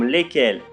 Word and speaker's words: lesquels: Attention s'il vous plaît, dans les pronoms lesquels au masculin et lesquels au féminin, le S au milieu ne se prononce pas.